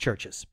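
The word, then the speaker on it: CHVRCHES: although it's spelled churches churches yes but it's pronounced churches georgeous and then we got another comment from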